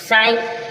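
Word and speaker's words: sigh: पर जो जीच है लास्ट में जीच है साइलेंट रहेगा साई साई मीस हा भरना आ है भरना जी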